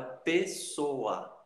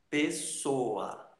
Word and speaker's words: pessoa: Por exemplo, a palavra pessoa, pessoa, ok? O A fica separado do O, tá?